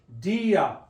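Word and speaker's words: día: Dia. All right, D-I-A. The accent mark on the I is breaking up that word to two syllables, two sounds.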